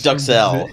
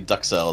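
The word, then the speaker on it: duxelles: I think it's duxelle. I think it's actually duxelle is how it's pronounced.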